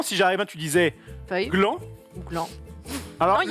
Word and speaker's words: gland: justement, le gland est intéressant parce que le gland a un rapport avec C'est vrai que c'est intéressant. C'est vrai. le gland a un rapport avec le chêne, Mais le D n'est pas prononcé.